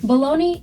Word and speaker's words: Bologna: Bologna, Italy is pronounced as Bologna.